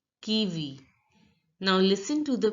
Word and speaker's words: kiwi: speaker in French look the I is pronounced as e as I already told you so it has to be pronounced he says kiwi kiwi now listen to the